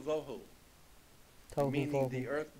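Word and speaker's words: וָבֹהוּ: Vohu would be V-O-E W-H-O, tohu, vohu, waste, desolation.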